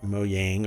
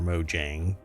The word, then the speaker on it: Mojang: 3 different mob hopefuls, which Mojang or Mojang, depending on where you are and how you want to pronounce it, I suppose, has begun introducing today.